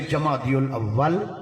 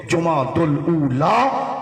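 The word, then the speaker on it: جمادى الأولى: نا وہ ایمی علیہ سے جاہل علیہ سے جمادی الاول تے جمادی الثانی یہیں آنکھا جب پڑھیا لکھیا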